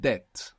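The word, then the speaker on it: debt: Deo the English word Deb which is spelled D EB T has this B from Deo it comes from there we don't pronounce it in English of course but this word is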